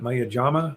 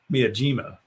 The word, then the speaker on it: Miyajima: me what is that maya jama we have jama island no no mia jima miyajima disneyland paris is actually